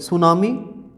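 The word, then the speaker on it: tsunami: को का पुष्प सुनामी सुनामी की स्पेलिंग देखो TV apps you एन ए एम आई थी साइलेंट होता है कि टीम सॉरी सुनामी साइक्लोन ए लैंडस्लाइड एक्स्ट्रा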